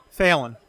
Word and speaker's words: Felton: Felton.